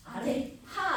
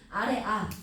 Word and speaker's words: 아래아: 아래하 아니고 아래아. 이름 아래아.